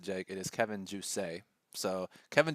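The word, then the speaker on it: Jousset: and his opponent uh as the French would pronounce it Jake it is Kevin Jay so Kevin J air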